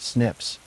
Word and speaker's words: SNPs: These algorithms compare hundreds of thousands of single nucleotide polymorphisms or SNPs pronounced SNIPS.